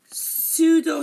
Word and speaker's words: pseudo: of a word again we don't pronounce p if it comes at the beginning of a word before an s okay for example pseudo science this is you